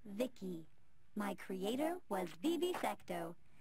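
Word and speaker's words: VICI: your exploits cool by the way i'm v-i-c-i pronounced vicky my creator was bibi secto he's what you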